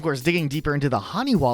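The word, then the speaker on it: haniwa: really clever though because in hiragana which is one of the Japanese alphabets the character ha is sometimes pronounced as W so if you put them together with that adjustment it's honey wa which are those terracotta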